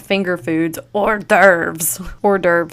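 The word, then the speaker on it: hors d'oeuvre: Gosh, I laugh a little bit anytime I see the word or derve because as a kid I used to think it was pronounced horse divorce.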